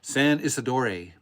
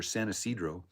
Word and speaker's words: San Isidro: It is a Friday, Saturday at the I always butcher this, San Isidore, which is an old Spanish pronunciation for San Isidro.